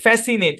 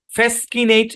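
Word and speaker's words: fascinate: আসি আগে সূত্র বুঝেন এস এবং সি একসাথে আছে পরে আই আছে তো এখানে সি টা সাইলেন্ট ফ্যাসকিনেট এরকম না ফ্যাসিনেট উচ্চারণ কি ফ্যাসি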